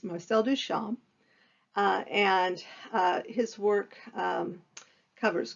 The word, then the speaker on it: Marcel Duchamp: controversial today and so marcel duchamp who the p is not pronounced you're going to watch video after video where they pronounce them pronounce it marcel duchamp it's not it's marcel duchamp and his work um